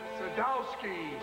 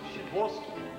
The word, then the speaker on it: Sadowski: Sadowski, Shaboski. A chance. Pronounced Shaboski.